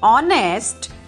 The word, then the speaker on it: honest: Here, in this word honest, H is silent. So, it begins with a vowel sound O.